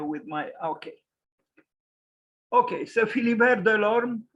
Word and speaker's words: Philibert de l'Orme: Okay, so Philibert Delorme, pronounced, if you can read that cryptical way of, expressing how the pronunciation should take place, but it's simple. Philibert Delorme, born in June 1514 and died on the